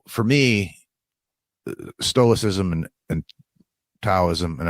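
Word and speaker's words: Tao: me stoicism and and taism and I know it's pronounced Dao but if you could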